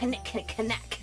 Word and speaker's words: knick-knack: just get a normal knick-knack to decorate your ass. Yes, I know it's knick-knack, but that's not as fun if you don't pronounce the K, right? Knick.